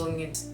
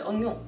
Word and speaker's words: oignon: I think it's just like the grands onions. Yeah, no, it's oignon.